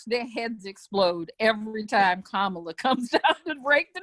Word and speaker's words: Kamala: The best way to remember how to pronounce it is it's Kamala.